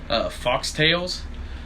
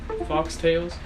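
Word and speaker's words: Faux Tails: Foxtails, I believe that's how that's pronounced. F-A-U-X, Foxtails.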